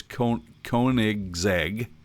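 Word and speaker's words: Koenigsegg: pronounce this correctly uh I believe it's con kig zeg is that right kig yeah you know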